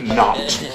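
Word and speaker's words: knot: and spell the word not k n o t not spell the K say it like it's not there not it's not the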